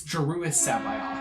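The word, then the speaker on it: Joruus C'baoth: Mark Thompson official narrated Aid of the Empire pronounces it it's JIS Sabi and you had to remind of that a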